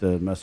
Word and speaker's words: Miese: definitely some memes or matt miese's pronounced mess tomorrow this one i